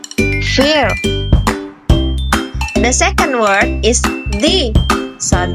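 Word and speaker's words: thee: Dan cara bacanya in general, we call this word the. But in Scottish, we call this word the. Jadi hampir sama kayak the, tapi vokalnya lebih panjang ya.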